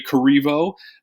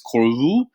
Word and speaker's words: Corriveau: We actually say Corriveau, but it's actually not pronounced that way.